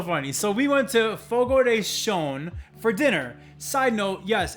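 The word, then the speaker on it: Fogo de Chão: is so so funny so we went to fogo de shone for dinner side note yes it's pronounced fogo day shone i always thought i was focused i mean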